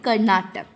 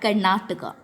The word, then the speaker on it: Karnataka: we talk about English, in English it is Karnataka, and in the other subjects we read it Karnatak, or in orally we tell Karnatak. The right pronunciation for that Karnataka.